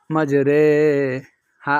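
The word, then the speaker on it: مَجْرٰىهَا: হবে এমালা এমালা অর্থাৎ মানে একটু আকারের মত উচ্চারণ হবে কোরআন শরীফে শুধু এক জায়গায় এমালা হয় মাজরে হা আলিফ জবর হা মাজরে হা ওয়াও জবর ওয়া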